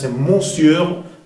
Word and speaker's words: monsieur: monsieur hein sa que monsieur une exception devrait prononcer monsieur pero son exception il se prononc monsieur un